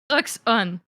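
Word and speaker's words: Roxxon: Roxon, genre? Ben, je suis désolée, moi, dans mon vocabulaire, XON, ça fait pas son, ok? C'est pas grave. Roxon.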